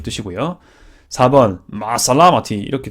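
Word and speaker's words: مع السلامة: 근데 마살라마티지만 보통은 마살라마라고 보통 해서 뒤에 T 뺍니다. 발음을 문법상 알기 때문에. 근데 또 제가 거주하고 있었던 예루살렘 이런 데 아랍 지역 이런 데서는요 마살라메라고 하더라고요. 마살라메. 그래서 전 매번 마살라메라고 항상 말했던 기억이 있습니다. 사투리긴 하거든요.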